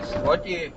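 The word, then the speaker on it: Złoty: Giống như với Zloty. Một số, hầu hết người Đức mắc lỗi phát âm nó thành chữ l và nói slotti, phải không?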